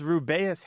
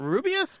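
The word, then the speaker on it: Rubeus: books on tape and Jim Dale reading he says ruas Hagrid and a lot of people are like it's not rubus what what oh no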